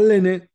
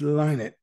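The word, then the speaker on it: Lynott: on the life of Phil leinert it's not linen it's line it it's pronounced align it and basically um it it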